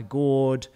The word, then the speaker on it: GERD: Tomatoes worsens my gourd or GERD as as the Americans say, or it worsens my arthritis.